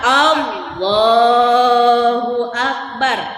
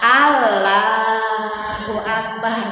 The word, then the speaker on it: Allahu Akbar: Dalam pengucapan Allahu Akbar, lafaz Allahnya, lafzul jalalah harus dibaca tafkhim alias tebal. Jangan Allahu Akbar, salah.